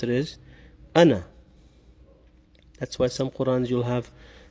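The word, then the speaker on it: أَنَا: the end so instead of saying and you pronounce it is Anna that's why sometimes you'll have the ID for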